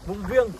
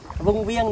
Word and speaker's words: Vung Viêng: đi thăm làng trải vùng vi vùng viê hay vung viêng nhỉ em nhỉ vung viêng vung viêng đúng không vung viê hay vung viê đu được là phát âm người dân bản địa đấy phát âm người dân